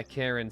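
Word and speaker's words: Charon: the fairy men yeah Karen spelled with a CH I think that would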